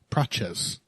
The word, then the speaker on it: Prates: Praches. That's often how the T is pronounced.